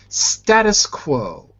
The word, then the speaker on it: status quo: quo status quo good HSA say quo quo that's it because I heard I think I heard a CO instead of a quo the